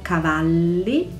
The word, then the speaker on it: Cavalli: bottega veneta bottega e con 2t e bisogna pronunciarle bottega moschino sh i park sun moschino roberto cavalli doppia elle cavalli missoni doppia s missoni